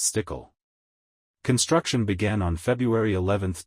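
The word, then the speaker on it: Stueckle: Stadium's West Side called The stul Sky Club pronounced stickle construction began on February 11th 2007 and the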